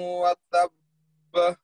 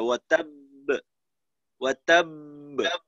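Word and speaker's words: وَتَبَّ: তাব্বাত ইয়াদা আবি লাহাবিন ওয়া তাব্ব তানভীর ভাই শেষের যে আওয়াজটা ওয়া তাব্ব এটা যেন জবরের মতো ওয়াতাব্বা ধরনের না হয় তখন কিন্তু তাসদীদের উচ্চারণটা সরাসরি হয়ে যাবে কলকলা বোঝা যাবে না আর একটা বিষয় হলো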